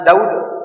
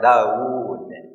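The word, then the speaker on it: داوود: Jadi tidak boleh Bapak wa ataina Daud. Enggak boleh. Harus pakai madnya ada panjang Daud. Gitu bacanya.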